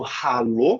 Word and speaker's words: hallo: Diferente no hallo, que ele vem antes da vogal, então ele vai aspirar o A, hallo.